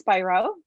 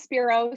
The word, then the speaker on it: Spiro: with ruth spiro um and uh do you pronounce the spiro or spyro actually it's spyro okay everyone says spiro so it's fine spyro um who is a